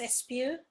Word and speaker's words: Espeut: My last name, Espeut, well, it's pronounced Espeut. In French, comes from it's possible.